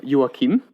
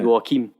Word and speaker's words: Joachim: Just to get to that, it's directed by Joachim.